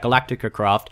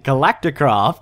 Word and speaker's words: Galacticraft: side there's one thing I don't like about Galactica craft I did it again I said it wrong again Galacticraft to correct myself I'm going to have to